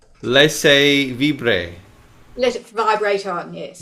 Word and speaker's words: laissez vibrer: How do we say this? Are you able to pronounce that? Laissez vibrer. Laissez vibrer.